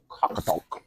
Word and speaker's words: Qaqortoq: Qaqortoq. Qaqortoq. Yeah, Qaqortoq. Qaqortoq. That's close. Okay, so it's gonna be Qaqortoq.